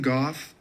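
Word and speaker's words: Gough: on Tik Tok to go through that but Susan Goff uh or Susan go depending on who you talk to for pronunciation who is the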